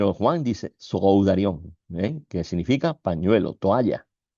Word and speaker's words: sudarion: Sudarion que no lleva acento en la O. El acento lo lleva en la A, pero no se pone, es un acento fonético.